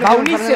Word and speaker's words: Baunisse: Ya no, pero sin la E. Y pero está la E. Pero porque tu nombre es Denise, entonces se pronuncia igual que tu nombre.